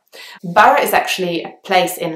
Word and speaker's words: Borough: at the end and you actually only pronounce the two syllables the next place is